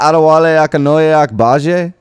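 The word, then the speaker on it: Adewale Akinnuoye-Agbaje: Ooh, is that Adewale Akinoye Akbaje?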